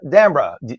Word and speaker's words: D'Ambra: Joining us now is my good friend D'Ambra. I say D'Ambra, because an Italian say that.